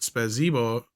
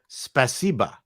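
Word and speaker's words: спасибо: 6, please tell Paul Spasibo, pronounced Spasibo, is thank you in Russian. Spasiba. Spasiba. Okay, so spasibo, yeah, spasiba.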